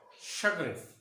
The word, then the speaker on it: chagrin: Here, CH, it gives sha sound, not cha. Sha. Chagrin.